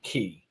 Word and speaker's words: Celebration Key: Well, they pronounce it Key. K. That's because Carnival wants it to... K. Yeah, they want to call it Key, though, because it's the key to your vacation and your relaxation.